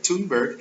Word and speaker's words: Thunberg: It's all about the Greta Thunberg, right? Thunberg. It's a TH, but just pronounce the T, you ignore the H.